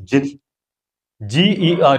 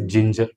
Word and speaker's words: ginger: Here it is GET, get, GIFT is gift, but here GI is gin, GER is jar. That means ginger.